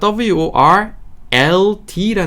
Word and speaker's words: world: L 발음을 중간에 넣어 주셔야 되는데 이게 우리 한국인들한테는 정말로 어렵다.